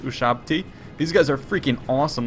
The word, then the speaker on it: Ushabti: freaking awesome looking troops I have USB body but they're actually pronounced ushabti these guys are freaking